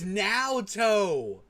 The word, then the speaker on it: Naoto: It's now toe. Ah, dude. Dude, dude, you're more of an anime buff than me. How do you not know how to pronounce Naoto?